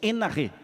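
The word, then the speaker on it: ἐν ἀρχῇ: Até aí, irmãos, aqui diz que no princípio, antes de todas as coisas, essas palavras, no princípio, no original grego, se escreve en arquê ou se pronuncia enarreê.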